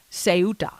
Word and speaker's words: Ceuta: And it is spelled Ceuta, pronounced Ceuta.